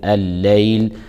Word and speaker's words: الليل: مقاما محمودا ومن الليل اللام في الليل لام شمسيه تدغم في اللام التي تليها فتلفظ لام مشدده فنقول الليل الياء لينيه لا مد